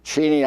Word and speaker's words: Cheney: I grew up calling it Cheney, but Cheney, I guess, is the way it's pronounced.